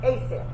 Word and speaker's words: ASAM: How do you say it? ASAM. ASAM. That's right.